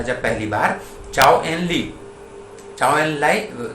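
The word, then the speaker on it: Zhou Enlai: जब नेहरू था यहाँ पे, तब वो आता है वहां से, चाइनीज प्रीमियर आया था जब पहली बार, चाओ एन लाई था उसका, प्रोनाउंसिएशन है उसका।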